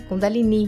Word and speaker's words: Kundalini: Kundalini, que é a pronúncia correta.